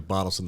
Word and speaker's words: Bottelsen: is spelled b-o-t-t-e-l-s-e-n and I don't care how you pronounce it if you've been calling me bottles in the whole time I'm absolutely fine with that so yeah but butelsen that's me there's my